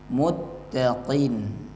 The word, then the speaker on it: المتقين: Qafnya agak dalam ya, supaya nggak sama dengan kaf. Kalau kaf bacanya muttaqin ya, beda. Yang ini muttaqin, ada bunyi benturan di pangkal lidah. Haqqan 'alal muttaqin.